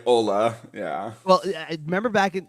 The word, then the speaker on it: Olle: The European Ola, yeah.